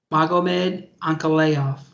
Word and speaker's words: Magomed Ankalaev: Magomed Ankalaev.